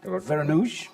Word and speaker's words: Vereenooghe: But now, indeed, welcome Kristof Vereenooghe. That's how you pronounce it in English.